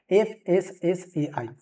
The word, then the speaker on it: FSSAI: से भी जानते हैं, बट फसाई प्रोनाउंसिएशन सही नहीं होगा, बट ठीक है, बोलने के लिए हम बोल सकते हैं फसाई, लेकिन इसका सही जो उच्चारण होगा वो क्या होगा, FSSAI यानी कि FSSAI, food safety and standard authority of India.